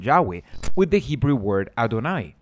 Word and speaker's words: Yahweh: scholars today agree that the original pronunciation of the titagram was something like Yahweh nobody had even pronounced